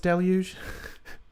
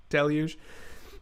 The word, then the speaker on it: deluge: someone get a toxic deluge and it is pronounced deluge if you watch my youtube short it is pronounced deluge um holy crap though this is gonna do